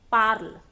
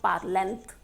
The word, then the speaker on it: parlent: We are going to pronounce it as parle, not parlent.